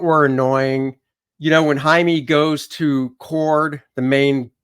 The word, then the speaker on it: Jaime: stupid no name tag he literally says Jaime and she says Jamie and then he says